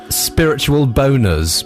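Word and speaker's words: Spiritual Bonerz: Bummer Hummer, and Spiritual Boners, but you don't pronounce the Z, it's pronounced Spiritual Boner.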